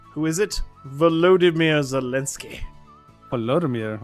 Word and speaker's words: Volodymyr: Oh, he's actually using like the official like pronunciation. Volodymyr. I just call him Vladimir. Yeah. Well, not So much simpler. Vladimir. That's Volo. Vladimir. That's the Americanized version, Vladimir.